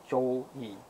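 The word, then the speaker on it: 周易: The I Ching is actually a historical account, and pronounced Zhou Yi, written during the Zhou dynasty.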